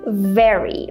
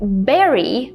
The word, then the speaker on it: very: talking about the word very so she said something more like Berry which is a completely different word right for example we